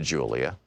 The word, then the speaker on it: Julia: I began to speak to Julia, pronounced Julia, in Spanish.